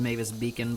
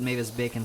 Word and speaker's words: Mavis Beacon: I mean, I guess it's pronounced Mavis Beacon, but I don't know. I pronounce it Mavis Bacon for some reason, and it's like, no, I'm pretty sure it's just because you watched that one Egoraptor video, and you've been pronouncing it wrong all these years, and it's like, well,